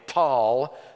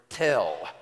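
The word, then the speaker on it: Tall: The title of the article is A Tunguska Size Airburst Destroyed Tal. That's another way of pronouncing the Arabic word tel, like Tel Aviv.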